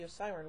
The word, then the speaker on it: Osiran: Part 2, and a full version of the Osiran rocket explosion. Although the name of Sutekh's race is pronounced Osiran throughout the serial, the scripts and